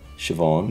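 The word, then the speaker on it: Siobhán: okay so this is how you actually pronounce them ne ne shioon Shon Naomi Naomi and uh I think it's ether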